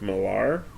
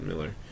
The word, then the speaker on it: Millar: Now, the writer Mark Millar, or Miller, I think they pronounce it Miller.